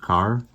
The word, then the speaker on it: Kerr: pink rabbit by judith carr i've been saying curb i believe it is pronounced car so we've been introduced